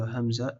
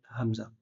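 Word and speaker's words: همزة: Puis quand tu laisses ouvrir et que ta ta voix elle passe, ça crée une lettre qui s'appelle hamza. Donc hamza, c'est quand tu coupes ta respiration.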